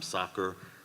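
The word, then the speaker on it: Sakr: She's written to us before, but I don't want to mispronounce her last name, Sacker.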